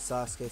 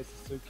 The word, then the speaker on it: Sasuke: And I think it pisses me off when folks try to say Sasuke's name and they say Sasuke. They're trying to say it the way it's spelled. It's Sasuke, not Sasuke.